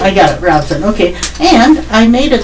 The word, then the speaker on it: Robeson: full-service offices located in Robeson, Hoke, and Cumberland counties. Was Robeson pronounced correctly, or is it Robeson? Oh, you pronounced it correctly. I got it, Robeson.